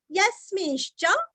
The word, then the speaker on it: यस्मिंश्च: यस्मिंश्च, यस्मिन्, यस्मि, य के ऊपर आघात, स्मी रस्व, स्मिता का स्मी और अनुस्वार का उच्चारण हल्का सा न, यस्मिन्, यस्मिन् श्च, आश्चर्य का श्च, यानी कि आधा श और च पूरा, यस्मिंश्च प्रलयम अथवा प्रलयै,